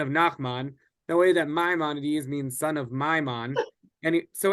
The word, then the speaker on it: Maimonides: Not the Rambam, who is Moses Maimonides, one of our most famous philosophers and scholars. And we differentiate between these two by accenting the first syllable of Maimonides' name and the last syllable of Nachmanides' name.